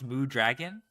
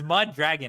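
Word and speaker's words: Mudragon: How did you pronounce moo dragon? It's mud dragon.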